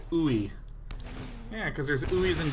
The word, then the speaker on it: UI: Groove Mastery says, as a UI engineer, I pronounce it ooey.